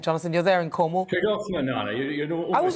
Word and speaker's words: Tregarthen: Tregarthen, Nana.